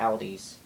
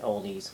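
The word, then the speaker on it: Aldi: the same exact thing at Ali's or you can pronounce it oldies whichever get the same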